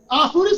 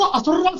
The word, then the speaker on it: आसुरी: teacher अच्छा लगा है आसुरी शक्ति को असुर शक्ति बोल रहे थे जब उ आसुरी शक्ति शब्द का उच्चारण नहीं आता उच्चारण तो ठीक